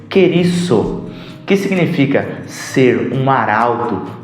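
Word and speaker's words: κηρύσσω: Esta palavra pregar é uma palavra no grego que se pronuncia querisso, que significa ser um arauto, proclamar.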